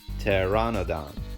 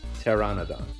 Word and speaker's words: Pteranodon: knew of so teradon this one's funny because the p is silent so we just pronounced the t t e tear ah no Don Pteranodon Pteranodon or pterodon and in